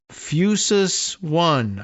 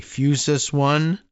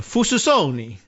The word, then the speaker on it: Fusus One: Fusus One, I assume. Unless it's Italian. Fususoni. But, I doubt that that's the pronunciation.